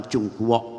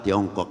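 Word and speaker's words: Zhongguo: dunia dari timur jauh orang mengatakan Tiongkok tapi dalam bahasa Mandarin ucapan cungkok bukan Tiongkok itu tulisannya itu boleh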